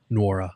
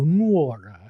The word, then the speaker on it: Nwora: Nwora. Nwora. Yep. So the N isn't silent. You just have to go Nwora.